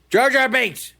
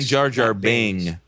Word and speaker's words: Jar Jar Binks: Jar Jar Binks. Yeah. Yes. I just wanted you to say it. Say it again. Jar Jar Binks.